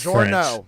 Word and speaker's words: Journeau: And the driver in 84 starting 39, that Jordan Journeau is how it's pronounced. It's Journeau. French.